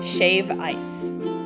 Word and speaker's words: shave ice: Kihei for Ululani's Hawaiian Shave Ice. Smooth, lightly flavored ice on top of gourmet ice cream, if you like. They have so many flavors, but it's not shaved ice with a D.